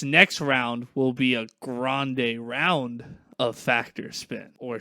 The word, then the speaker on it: Grande: Grande Ariana Grande but it's supposed to be pronounced Grande okay yeah that's what I thought I've heard